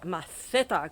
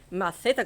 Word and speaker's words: maceta: So for the moment, from me, from the new maceta garden, or maceta garden to be absolute perfectionist, because in Spain the C is pronounced th, maceta garden, I'm going to see you here next week in Granny's garden.